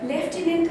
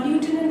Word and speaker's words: lieutenant: Then these are some designations that are also used as acronyms, as in colonel, or you have lieutenant or lieutenant, that's the pronunciation.